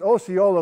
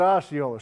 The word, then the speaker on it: Osceola: So it's pronounced Osceola locally, but us folks who don't live in the area call it Osceola.